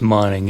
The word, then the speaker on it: Monning: The John Hancock is Monning, M-O-N-N-I-N-G, Gotcha.